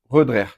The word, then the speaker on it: Roederer: je crois de Louis Rodrer, par monsieur Schraider, je crois. Et euh après Louis Rodrer, bah voilà, il voulait donner d'ailleurs, on dit Redrer d'ailleurs comme ça qu'on prononce correctement, il voulait donner euh